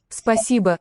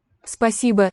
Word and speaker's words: спасибо: Also in Спасибо. the final syllable is a schwa.